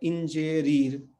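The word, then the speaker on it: ingerir: है, उसका नाम है इंजेरीर, इंजेरीर, इंजेरीर। तो यहाँ पे हम इसको क्या पढ़ेंगे, आई कभी नहीं पढ़ेंगे, हम हमेशा इसको किससे शुरू करेंगे, ई, इंजेरीर, है ना।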